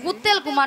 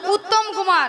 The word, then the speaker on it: উত্তম কুমার: ও শ্রী শ্রী শ্রী শ্রী শ্রী শ্রী উত্তেল কুমার নয়, বলো উত্তম কুমার।